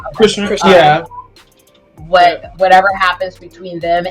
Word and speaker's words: Chrisean: separation between him and ChriseanRock, right? That's how you say her name. Christian.